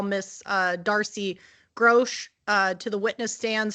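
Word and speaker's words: Grosche: I'm going to call Miss uh Darcy Grosch uh to the witness stand, so feel free to exceed the scope of my direct when you do your cross.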